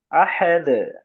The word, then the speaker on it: أحد: أحد، এই যে হায়ের মাখরাজটা আনতে গিয়ে আবার যাতে উচ্চারণে মানে টানের মতো না হয়ে যায়। আহাদ, আহাদ।